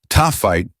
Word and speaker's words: Taaffeite: Taaffeite, pronounced Taaffeite, belongs to the last category.